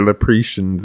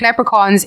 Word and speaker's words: leprechauns: Like when you hear Lepretians and shit like Lepretians, that fucking what the fuck? What are you looking at? Like, wait, what on God's green earth makes you think leprechauns is pronounced Lepretians?